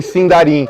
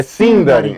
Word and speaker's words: Sindarin: Ele vai, a partir de agora, o resto da palestra é em Sindarin. Você errou a sílaba tônica. É Sindarin.